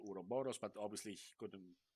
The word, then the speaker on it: Ouroboros: he's releasing a role playing game called Ouroboros. I'm not sure how to pronounce it. yes, Anyway, you did pronounce it correctly. did I? I Oh, think. How would you? Yeah, good for me. Ouroboros.